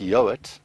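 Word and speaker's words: Yeowart: Now, my name, first name, and then I've got quite an interesting surname, which is pronounced Yoat, but it's spelled Y-E-O-W-A-R-T.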